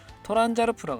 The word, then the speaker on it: Transalp: XL750, 이제 영어 발음이 아니라 일본 발음 그대로 하겠습니다. 토란자르프라고 합니다.